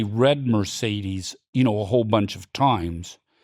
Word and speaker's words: Mercedes: So, Mercedes, Max, it's a great word. There's 3 E's. Each one of them is pronounced differently.